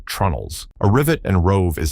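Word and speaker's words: treenails: Vikings fastened their planks with iron rivets and roves, and for many structural connections they used wooden pegs called tree nails, which most people pronounce as trunnels.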